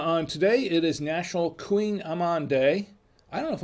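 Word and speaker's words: Kouign-amann: pronunciation here the pronunciation pronunciation it's called it's pronounced queen amman queen amman no and it's not a queen it's not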